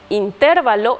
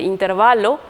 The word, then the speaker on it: intervalo: abuja son incorrecciones fonéticas las incorrecciones fonéticas también pueden darse por desplazamiento de acentos Es decir pronunciamos de forma incorrecta la sílaba que debe ser tónica a veces decimos intervalo en vez de intervalo o especimen en vez de Espécimen o ávaro en vez de avaro acentuamos de forma incorrecta